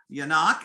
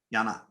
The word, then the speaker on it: Yanok: a reverend yanak and did i pronounce that correct she's still muted all right she's still muted okay i'm unmuted now uh help me say your last name again it's yanok okay and uh she'll